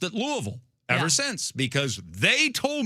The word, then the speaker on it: Louisville: I grew up and it was Louisville. That's how we did it in southern Illinois. Louisville, Kentucky. Then I went to Louis Louisville and they said, "No, it's pronounced Louisville."